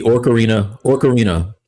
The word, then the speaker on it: Ocarina: It's the Ocarina, right? That's how you pronounce it.